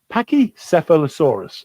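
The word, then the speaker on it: pachycephalosaurus: of thesaurus just like i just did pacquia pachicephalosaurus that's how you say the one with the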